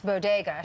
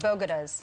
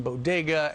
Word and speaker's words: bodega: someone wrote that because she didn't know how to pronounce bodega she said bogadas but yeah she should